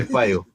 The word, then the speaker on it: Pio: Payo is spelled P-I-O, though yes. Along the way, girls started calling it Payo, P-A-Y-O.